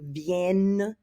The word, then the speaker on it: viennent: the present tense to get that hard N sound in. Remember in the present tense, ils viennent.